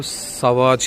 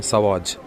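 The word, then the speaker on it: Sauvage: उसने कहा इसको सवाज कहते हैं। सवाज।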